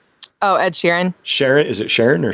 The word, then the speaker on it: Sheeran: The singer dude, Sheehan? Oh, Ed Sheeran.